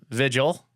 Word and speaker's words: Vigil: So today, joining me is Adam Vigil, similar to a candle vigil.